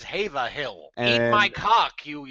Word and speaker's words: Haverhill: it's that asshole who told us how to pronounce this town's name. I looked it up in the town charter, and it says Haverhill.